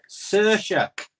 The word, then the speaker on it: Saoirse: Saoirse. That's how you pronounce it.